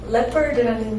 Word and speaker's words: leopard: 자, 이 레오파드라는 말은 원어민이 단 한 번도 레오파드라고 발음하지 않는 또 앞으로도 그러지 않을 leopard라는 단어입니다.